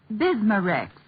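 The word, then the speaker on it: Bisma-Rex: have to remember that bismar Rex is that how you say it that's right ma'am b i s m a hypen reex bismar ask for bismar at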